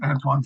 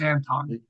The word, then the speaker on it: Anton: Is he French or Swedish? Swedish Antoine Frondel. Did I spell it wrong? It's Anton.